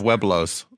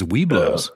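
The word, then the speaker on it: Webelos: Yeah, I was thrown out of Weblos. There was a scandal we've talked about in previous shows. Because I think it's Weblos. Is it Weblos? It is Weblos. So. Weblos.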